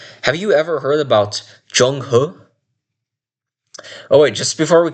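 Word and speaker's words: Zheng He: It I think it would be pronounced something like Jung Hu or Jong Hur. Jungur. No, no hard R, by the way.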